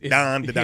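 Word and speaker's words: Dandadan: It's- Don to Don. Yeah, so you spell it D-A-N, D-A-D-A-N. If you're gonna pronounce it how the Japanese pronounce it, it's Don.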